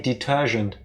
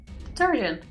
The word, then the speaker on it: detergent: You say detergent. Detergent. You hear it, right? She pronounces the G like the S in Asian.